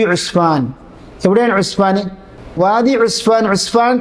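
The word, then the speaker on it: عسفان: അറിയപ്പെട്ടത് ഉസ്ഫാൻ പണ്ഡിതനായി പറയുന്നു ഉസ്ഫാൻ അലാ വസ്നി ഉസ്മാൻ അസ്ഫാൻ എന്നല്ല ഇസ്ഫാൻ എന്നല്ല ഉസ്മാൻ എന്ന ഉച്ചരിക്കുന്നത് പോലെ തന്നെ അതിന് ഉച്ചാരണം ഉസ്മാൻ ഉസ്ഫാനും ഉസ്മാനും അതിന്റെ ആദ്യത്തെ ഹർഫ് മം ആയിരിക്കും അപ്പോൾ ഉസ്ഫാനിൽ വെച്ച് കണ്ടു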